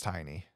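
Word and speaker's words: Tyne: daily tiny I know so her name is spelled t y NE e and I'm like I'm 90% sure that's tiny what else would it be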